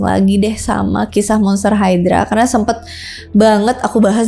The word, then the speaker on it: Hydra: Hydra Hydra hidora Terus kalau dalam pelafalan Rusia disebut dengan gidra jadi walaupun pelavelannya beda-beda